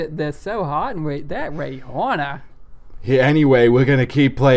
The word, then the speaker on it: Rihanna: Also, she pronounces her name Rihanna, not what? Rihanna. But every radio DJ is like, Rihanna.